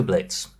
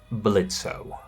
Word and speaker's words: Blitzø: Instead, it relates to Blitz. The O is silent. That wasn't always the case. Now, most people probably call him Blitz. But some villains refer to him as Blitzo.